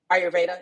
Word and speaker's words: Ayurveda: Now, am I pronouncing it correctly? Ayurvedic? Ayurveda.